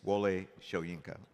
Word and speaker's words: Wole Soyinka: remember in the mail it's Mr sworienko it's Wale shoyenka by the way I know how to say